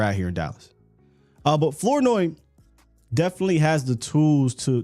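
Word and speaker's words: Flournoy: of a shocker that was wide receiver Ryan floi that's how you say his name now when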